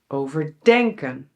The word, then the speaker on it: overdenken: And in inseparable compound verbs, the stress is on the verb: "overDENKEN."